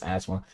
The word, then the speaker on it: asthma: I have asthma yeah that's how it looks like it's pronounced but it's asthma I have asthma it